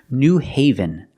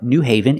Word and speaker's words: New Haven: we have this city New Haven New Haven Connecticut again use the long a sound heaven but Haven New